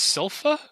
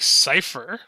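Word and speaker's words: Sypha: saying my name it's sofa what it's it's sofa oh I thought it was like cypher okay anyway so the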